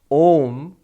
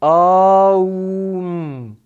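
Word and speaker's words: ॐ: So, A and U, when you pronounce one after the other, together they make the Sanskrit letter O.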